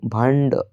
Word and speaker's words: भांड: बर्तन को मराठी में भांड कहते हैं। भांड ड के ऊपर जो बिंदी है वो वर्ड को भांड इस तरीके से प्रोनाउंस करते हैं गाइस।